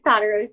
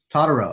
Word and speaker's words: Tedrow: It's Todorow, but it's Katie Taylor's good. How did you say it? It's Todorow. Todorow.